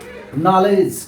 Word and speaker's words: knowledge: Next है नॉलेज, KNOWLEDGE। ये हमारे नॉलेज कुंजी का एक शब्द भी है यहाँ पे। तो यहाँ के साइलेंट है और यहाँ पे डी साइलेंट है।